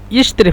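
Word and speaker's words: يشتري: মুদারের ক্ষেত্রে ইয়াস্তারি আর সৌদির ভাষা হলো হু ইশতের ফেরাশ হু ইশতের ফেরাশতারি ফেরাস একসাথে বললে হু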